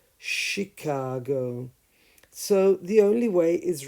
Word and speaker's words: Chicago: charm Chapel chimney and as a she sound in the name of the city of Chicago Chicago so choir character charisma chameleon chemical chemistry chemist charm chapel chimney but the city is called Chicago so the only way